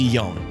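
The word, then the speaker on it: Jón: were then joined by my Icelandic buddy yon which is Icelandic for John it's spelled the same way just pronounce y own he took us to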